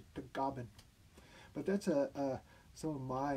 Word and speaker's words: Tagaban: In the Philippines, it's pronounced Tagaban.